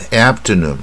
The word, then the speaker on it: afternoon: 刘培元的英文教室正确发音篇第十二集，我们看看 afternoon 下午，很常见很简单的字，但很多就是念不准。